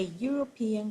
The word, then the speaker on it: European: a broken egg, a European country. Yes, European is written with the vowel at the beginning, but the sounds, the pronunciation starts with J, which is the sound of a consonant.